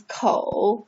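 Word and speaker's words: 口: present form of mouth mouth is pronounced as ko okay and also a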